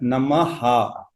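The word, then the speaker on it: नमः: Namaha. That Visarga means Ha. Namaha.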